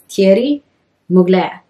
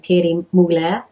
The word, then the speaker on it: Thierry Mugler: how to say it, they said that the Thierry has almost like a Y, I think it is, in it. And then it's Mugler.